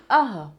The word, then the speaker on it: अः: इस तरह से क्या जाता है, ये अह विसर्ग को क्या बोलते हैं, अह। कैसे इसका उच्चारण करते हैं, अह।